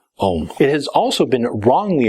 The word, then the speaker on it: Ogham: Ogham itself is spelled O-G-M-A, but it is pronounced Ogham.